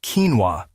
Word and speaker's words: quinoa: Pronounced quinoa, this tiny seed boasts a remarkable nutritional profile, making it a star player in the world of healthy carbohydrates.